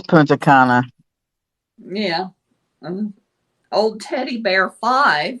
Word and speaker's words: Punta Cana: talk his 61 year old grandma yeah it's punta cana yeah old teddy bear five hi there i